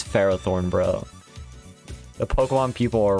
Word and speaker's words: Ferrothorn: he says pokemon names the only correct pronunciation is what my name is what i think it is like ferrothorn is ferrothorn and nothing can change that froth or no it will forever be pharaoh thorne australia australia ah